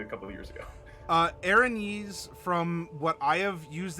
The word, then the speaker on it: Erinyes: the word probably a couple of years ago Erinyes from what I have used it as and what I have heard in several different D&D audiobooks aranese seems to be the pronounce that correct then I will trust your